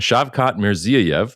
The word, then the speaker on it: Shavkat Mirziyoyev: President Trump could not pronounce their leader's name, but they're on there. Nobody can. It's fine. I can. Shavkat Mirziyoyev, because it took me a couple days to